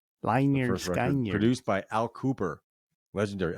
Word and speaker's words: Lynyrd Skynyrd: 1973, Lynyrd Skynyrd, pronounced Leonard Skinnard. Lynyrd Skynyrd.